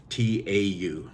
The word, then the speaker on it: Tau: T-A-U, it's pronounced Tau.